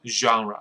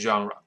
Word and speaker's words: genre: 好，所以文艺的种类叫 genre，不是 genre 哈，genre。那崛起，rise to fame， rise to prominence。Rise